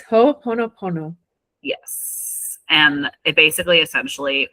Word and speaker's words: Ho'oponopono: So, can you pronounce it for us, Miss Sweetie? Yes. It's Ho'oponopono.